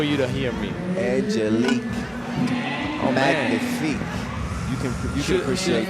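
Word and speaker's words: magnifique: Cuz we when the G and the N are together, we don't pronounce the G. So it's it's like a N. It's manif.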